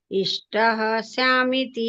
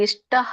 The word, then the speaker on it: ಇಷ್ಟಃ ಸ್ಯಾಮಿತಿ: ಅಧ್ಯಶ್ಯತೆ ಚ ಯೂಯಿಮಂ ಧರ್ಮಂ ಸಂವಾದಮಾವಯೋ ಜ್ಞಾನಯಜ್ಞೇನ ತೇನಾಹಂ ಇಷ್ಟಃ ಸ್ಯಾಮಿತಿ ಮೇ ಮತಿಃ. ಹರೇ ಕೃಷ್ಣ ಮಾತಾಜಿ. ಅಲ್ಲಿ ಇಷ್ಟಃ ಅಂತ ಹೇಳ್ಬೇಡಿ, ಮಧ್ಯದಲ್ಲಿ ಬಂದಾಗ ಇಷ್ಟಸ್ಯಾಮಿತಿ. ಇಷ್ಟಸ್ಯಾಮಿತಿ ಹ ಸ್ವಲ್ಪ ಮಾತ್ರ ಕೇಳಿಸ್ಬೇಕಲ್ಲಿ, ಎಂಡಿಗೆ ಮಾತ್ರ ವಿಸರ್ಗ ಉಚ್ಚಾರಣೆ ಮಾಡ್ಬೇಕು.